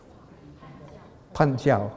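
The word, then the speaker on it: 判教: And so they worked out certain systems of interpretation that are called, I think, Panjiao. Is it my pronunciation all right? Okay. Panjiao, yeah.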